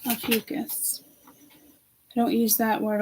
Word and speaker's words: Ophiuchus: Ophiuchus. Ophiuchus. Ophiuchus.